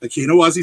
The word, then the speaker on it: Akinowazi: Yes, Akinowazi Saga is how it's pronounced.